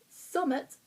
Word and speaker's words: summat: So, summit, which is spelled SUMMAT, summit, which means something.